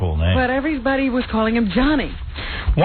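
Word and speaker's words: Gianni: You know, his name is spelled Giani, but they're saying it's Johnny. Yeah. Well, it's Giani. And yet all the newscasters are going Johnny Versace.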